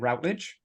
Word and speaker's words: Routledge: never really settled but the majority of people said Routledge that was the way it was pronounced um but some people